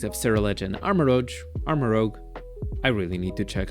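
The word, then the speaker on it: Armarouge: only the typings of ser and armor Ro armaro I really need to check how to pronounce that man okay apparently it's actually Amaro as I was saying we cannot just consider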